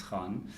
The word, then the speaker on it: Kahn: This is and you pronounced it properly. Yeah, Khan.